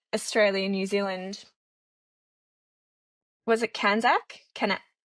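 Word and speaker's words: CANZUK: Was it Kanzac? Can how do you say it? Kzak. Kanzuk.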